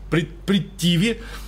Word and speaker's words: Притхиви: Есть классическая арийская Притхиви, или Притиви, там ха, видимо, не читается в полном смысле, Притиви.